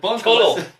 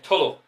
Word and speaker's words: Tullow: Tullow. It ends in an OW, not an AW. Also, the W is silent. Yeah, Tullow.